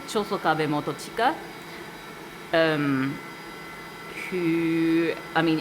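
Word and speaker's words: 長宗我部: of this guy called Chosokabe Motochika, who, I mean, in Kochi, in Tosaben, they probably pronounce it Chosogabe, so we made that deliberate choice there instead of saying Chosokabe.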